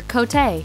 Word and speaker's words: Cote: of the kids at her school couldn't properly pronounce the 10-year-old dep Pablo's name so she asked that they instead call her cotay a common Chilean nickname for Maria Jose she